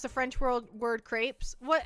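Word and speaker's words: crêpes: Uh, and then if we pronounced it English, we just read that as an English word, that would be creep because the e makes the e say its name.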